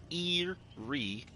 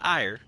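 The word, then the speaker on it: Eyrie: Eerie of crows Erie that's Eerie not ire all right that's an e and I should know I looked it up it's a British pronunciation apparently but it's Eerie crows ranged Killers only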